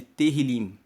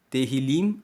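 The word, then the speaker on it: Tehilim: os salmos no texto original são chamados de terril se escreve t e h i l i m terril é o nome do livro de Salmos na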